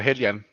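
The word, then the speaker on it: Heljan: Yeah, I can never pronounce that one. Is that the proper way of saying it? Yeah, Hellion. Hellion. I always go Helgen.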